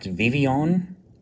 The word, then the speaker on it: Vivillon: Apparently this is pronounced Vivion. I think it looks like Vivillon to me, but I guess it's Spanish or something.